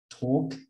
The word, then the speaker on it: talk: Talk, the L doesn't sound, and walk.